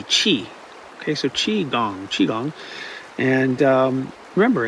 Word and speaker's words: Qi: I mean, it's important to remember Qi, pronounced Qi with C-H-E-E, Qi.